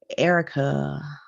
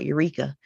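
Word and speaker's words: Ericka: pronunciation of my name erica you know some people see that e-r-i-c-k-a and we'll pronounce it uh eureka and to me uh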